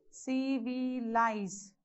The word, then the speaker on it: civilize: So again check for the syllable. Civilize.